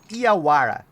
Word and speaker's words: Yawara: So that's why it's called Iawara. All right. I believe that's the right pronunciation in English. Here in Brazil, it's a not not so much different. I have but I believe there is some difference between the pronunciation with the W.